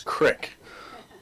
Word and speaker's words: creek: I noticed in the definition of creek, it doesn't offer any alternative pronunciation because there's a shellbilly term known as crick that I didn't see that in there.